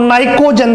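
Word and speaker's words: pnicogen: P यहाँ पे silent रहता है, P नाइकोजन बोलते हैं।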